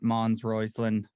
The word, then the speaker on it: Mons Roisland: welcome to the to the show we got mons royceland is that did I pronounce that right yep all good hell yeah